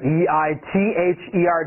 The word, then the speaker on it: either: 快速。Peach， tomato， grape， husband， means， lettuce。Either E-I-T-H-E-R，注意这个 T-H， Either 咬舌哦。